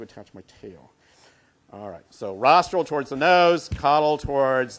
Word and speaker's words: rostral: person or animal so rostral is towards the nose of the person rostral rhymes with nostril so as far as